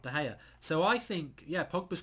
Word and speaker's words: De Gea: I think that De Gea is a player that, and that rhymes, De Gea rhymes with player.